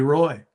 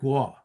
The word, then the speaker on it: Roy: he you know famously uh never called Patrick Wah by his real name. It was uh Patty Roy. And we had we clashed about that. I said, "Don, his name is Patrick Wah."